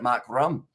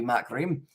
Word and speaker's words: Markram: And I'm an Aussie, and I pronounce it Mark Rum. As that's why I said it before, maybe Mark Rim. Suits your accent better, as says Rossi 5.